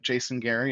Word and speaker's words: Jayson Gehri: uh g r i they're not spelled normally but Jason Gary is how you pronounce it and um if you